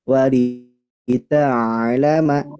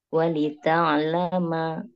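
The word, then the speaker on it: ولتعلم: Wa'adallahi la ya'lamun wa lita'lama. Seperti itu. Ulang Ustaz. Nah, boleh Dari diulang mana Bu. Ustaz? Yang ini dulu. Walita'lama. Nah, jangan to, tapi ta.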